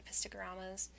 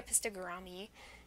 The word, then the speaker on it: Epistogramma: fish soon, like the Epistogramma? I don't know how to pronounce it, because I say it like garam. I used to say epistogrammy, and I was like, that's wrong.